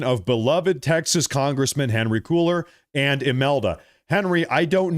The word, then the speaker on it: Cuellar: It's pronounced Quailer. Apologies. I'm sorry, Henry and Imelda. I'm apologizing for mispronouncing your last name.